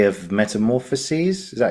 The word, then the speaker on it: Metamorphoses: He was in book 3 of Metamorphoses. Is that how you say it? Metamorphoses.